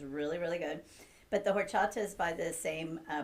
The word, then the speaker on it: horchata: english lessons too because the h is silent in spanish what's what's in horchata